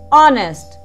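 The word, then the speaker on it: honest: यहाँ पर H silent है, इसलिए हम H को ना बोलकर सिर्फ O से स्टार्ट करेंगे. ऑनेस्ट, बी ऑनेस्ट.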